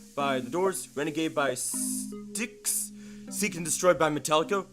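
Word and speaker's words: Styx: And the correct answer is Renegade by Sticks. That's probably not how you pronounce it. No, it is how you pronounce it. It is. Yes, it is sticks.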